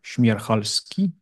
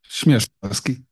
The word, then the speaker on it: Śmierzchalski: And today, as a speaker of the quantum computing seminar, we have Tomasz Śmierzchalski. No, no, not correct. Śmierzchalski. Yeah, that's the correct pronunciation.